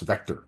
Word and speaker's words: VKTR: media sponsors cmswire and Vector vktr ve pronounced Vector you can go to